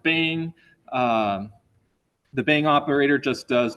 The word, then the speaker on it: bang: And then the bang operator, this exclamation point, often pronounced bang.